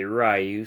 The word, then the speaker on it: Ryu: tongue uh Ryu rayu I believe the correct pronunciation is Ryu but most people I know say rayu so whichever I guess